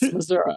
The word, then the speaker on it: Missouri: So even the state can't decide what is the most appropriate, but legally, it's Missouri. We're too poor to even pronounce the I.